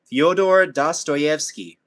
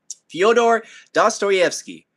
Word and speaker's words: Fyodor Dostoevsky: I'm gonna like butcher his name because I've been trying to pronounce it so many times, but I'm just gonna attempt it. Fyodor Dostoevsky.